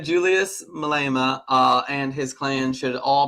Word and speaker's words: Malema: Now, it's just to confirm, the correct pronunciation is Julius Malema? Yeah. Malema. Malema.